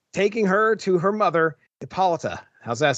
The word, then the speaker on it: Hippolyta: welcome her back, taking her to her mother, Hippolyta. How's that sound? Am I doing all right? Hippolyta? Hippolyta? Hippolyta.